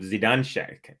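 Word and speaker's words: Zidanšek: Jaber versus zidane check so I actually checked up the pronunciation of zidanch that's how she says her name is through the WTA site zidanch so learn something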